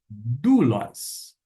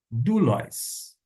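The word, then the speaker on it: δοῦλος: Como é que a gente vai pronunciar? Doulos. Doulos.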